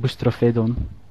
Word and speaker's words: Boustrophedon: you say your name I'm not sure myself Greek but i pronounced it boosts trophy don't mr.